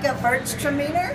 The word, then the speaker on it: Gewürztraminer: How do you pronounce that? Gewürztraminer.